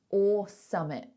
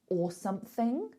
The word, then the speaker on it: or something: Or summit. I was walking down like Soho or something somewhere. So that's instead of saying or something. I don't pronounce all of that.